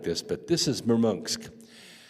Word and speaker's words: Murmansk: I don't think it's a big hole like this, but this is Murmansk. I know it's spelled Murmansk, but Russians call it Murmansk.